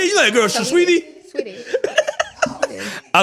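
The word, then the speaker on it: Saweetie: Sawiti? Yeah, I was like, Shush Sweetie. Because it is spelled Like, what are you Sawiti. talking about? Well, you know the girl Shush Sweetie.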